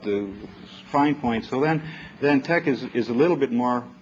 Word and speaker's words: TeX: This is the fact that the E is a little lower in here means that you pronounce it TeX, and it's my system.